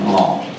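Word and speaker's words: Laon: this is long it's one syllable pronunciation along l-a-om and uh this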